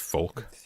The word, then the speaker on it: Volk: Volk is pronounced folk.